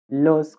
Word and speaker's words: lo: Consider this example lo and you can hear the a open. It's pronounced in an open way unlike the a in the subject personal pronoun which is quite weak and pronounced as a adaro. But in this object personal pronoun we say ah it's quite open. So there you have lo and that means speak